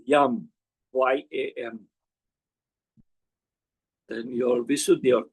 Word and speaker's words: Yam: Heart chakra, it's Yam, Y-A-M.